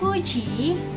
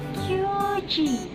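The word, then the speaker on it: 九時: Perhatikan pukul 7 dan 4, dan karena bacaannya berbeda dengan angka biasa, pukul 4 yoji bukan yonji. Pukul 7 shichi bukan nanaji. Pukul 9 kuji bukan kyuji.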